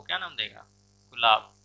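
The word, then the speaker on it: Gulab: अब देखिए पाकिस्तान जब देगा नाम तो वो क्या नाम देगा, गुलाब, लेकिन प्रोनाउंसिएशन क्या होगा उसका, गुल आब होगा।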